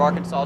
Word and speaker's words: Arkansas: So everybody in line at the University of Arkansas to... It's pronounced Arkansas. The other one's Kansas.